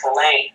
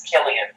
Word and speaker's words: Killian: Elias Walker, he has this very enjoyable tendency to mispronounce Killian as Killane. Yeah. Over and over, just in service to his contempt of having to pronounce it as Killian.